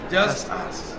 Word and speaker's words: Justus: Is it Justus? Is that how you say it? Yes, just us.